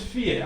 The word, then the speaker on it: vier: This is vier, as I said. V is pronounced F. So learn to know that.